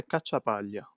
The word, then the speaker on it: Cacciapaglia: Kachapalia. Uhhuh. Thank you. So I think the way you pronounced what was perfect.